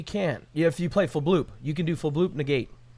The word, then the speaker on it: Fblthp: His name's Fblthp. That's definitely not his name. It's Fblthp. It's definitely not Fblthp. Yeah, the H is silent.